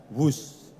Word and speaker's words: Whoosh: operasi optimal sistem hebat sekali lagi w h o o shh tapi membacanya wus kereta cepat Jakarta Bandung